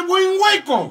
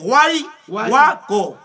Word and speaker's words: Huayhuaco: Comandante Buen Hueco. No. ¿Qué tal hueco, ah? Guayhuaco. Ah, Guayhuaco. Pronuncien bien conmigo. Guayhuaco.